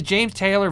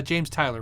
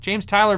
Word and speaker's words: James Tyler: you ever tried a James Taylor variax it's uh James Tyler right James Tyler variax guitar I'm saying it wrong you're saying it right if so Korean made